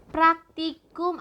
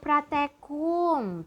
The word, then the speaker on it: praktikum: Praktikum atau pratekum tuh yang sering masuk ke lab ya, ke laboratorium biasanya melakukan kegiatan ini. Cuman seringnya kalian salah dalam pengucapannya. Padahal kata baku sesuai Kamus Besar Bahasa Indonesia adalah praktikum.